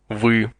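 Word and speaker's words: вы: the word for you we we phonetically speaking this word would be pronounced like the two letters v y or V but only slightly listen again and repeat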